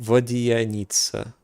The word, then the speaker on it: Vodyanitsa: jewels of the Korolievsky troupe, they're talking about Odette and the prima donna, Vodianitsa. Okay, Vodyanitsa. Oh wow, they pronounce it Vodyanitsa. Vodyanitsa. It's like Alyosha.